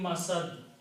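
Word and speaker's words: مسد: Mim masad. The word is masadin. If you stop, you pronounce masad.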